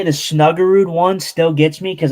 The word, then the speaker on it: Snuggerud: But I see how you see it because you usually say Snugard. Snugard is what you say. Yeah, Snugard, but it's Snuggerud.